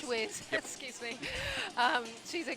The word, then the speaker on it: Schweers: Chelsea Schweers. Schweers, yep.